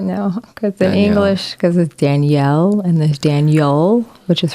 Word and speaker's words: Danielle: you like I know your name is is said like in French it sounds sorry say it again Danielle it sounds more like the boy way of saying it no because you